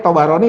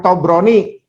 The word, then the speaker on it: Tabarani: Mohon maaf ya, bacanya Tabarani ya, bukan Tobroni. Itu ya, bacanya Tabarani. Itu ya, Pak Anton kebanyakan orang bacanya Tabrani, udah biarin aja ya, kalau bisa dibetulkan silakan betulkan, tapi ya kita tidak ikut kesalahan itu ya.